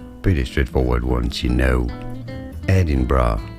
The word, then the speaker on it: Edinburgh: So, an anonymous texter said, "I pronounced Edenberg wrong."